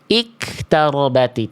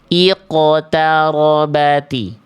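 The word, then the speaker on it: اقتربت: Jadi bukan hanya "iktarati," kesalahan pada sukun qof adalah dibaca dengan hembusan napas atau diubah sepenuhnya menjadi kaf. Bagaimana seharusnya, saudaraku? Seharusnya dipantulkan tanpa bernapas. Iqtarobati.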